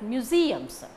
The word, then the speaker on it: museums: We visited, first syllable visited, a lot of museums, museums, mu is not taking stress, museums, museums, museums take stress.